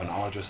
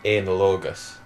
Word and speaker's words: analogous: respond our goals have analogous elements however not all available for disclosure discretion necessary you pronounced that wrong it's analogus right fair enough analingus analingus